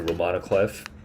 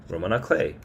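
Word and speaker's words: roman à clef: semi-autobiographical with names changed it's regarded as a Romano Cliff which is like a um um actually I I think about I don't even remember what this means Roman aay e Roan a clay Roman a clay I didn't know that's how you pronounce it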